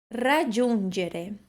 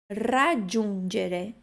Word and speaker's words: raggiungere: Raggiungere é um R tremido.